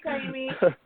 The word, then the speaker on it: Kaimi: Thank you, Kaimi, so much for being on my podcast, on my show.